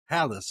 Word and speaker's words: Halis: Halis. Okay. Oh, like House.